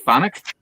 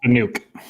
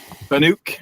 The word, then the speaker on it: Fanuc: This is approval of the purchase of is it pronounced Phonic Robotics cert cart? I do believe it's Fanuc. Fanuc. All right.